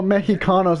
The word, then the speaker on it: mexicanos: X is pronounced like depending on the word it's used in can be pronounced like a J just like with like